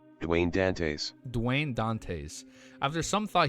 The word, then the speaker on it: Dantes: Dwayne Dantis Dantis 6 feet.